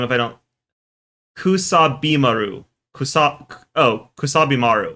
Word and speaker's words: Kusabimaru: It's by I can't say it as one word, but I can say out the syllables. I've learned the syllables. I know how the syllables sound. Kusabi Maru is how it should be.